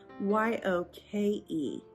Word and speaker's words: yoke: But this is actually a word that sounds similar, but is spelled differently, and it's Y-O-K-E, yoke.